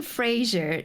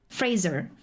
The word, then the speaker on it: Fraser: talk back for instance brandon frazier is fraser which one was the right pronunciation i think it was fraser because i was calling brendan fraser and then it got corrected i think one day